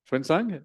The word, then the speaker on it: Xuanzang: Xuanzang, yeah.